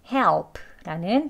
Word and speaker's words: help: 이렇게 발음했습니다. 다음은 help라는 단어예요.